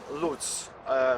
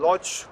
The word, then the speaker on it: Łódź: Great welcome from Lutz, from Lodz, Łódź, as you can prefer it is in Polish pronunciation.